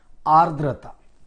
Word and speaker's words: आर्द्रता: नाही, आर्द्रता, आर्द्रता नहीं, आर्द्रता शब्द कसा है, याचं प्रोनाउंसिएशन आर्द्रता।